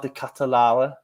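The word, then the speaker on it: De Ketelaere: And then Charles, or CDK, or Charles de Catalara, as I've gone for the pronunciation of there rather boldly. I think you did it. I think that was spot on, actually. It's a tough one, because even Dutch people are disagreeing on it.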